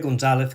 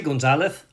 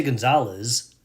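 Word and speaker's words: González: name which is Filipe Gonzalez Coffinho. When I say Gonzalez, you hear the th the lisp sound. I don't say Gonzalez.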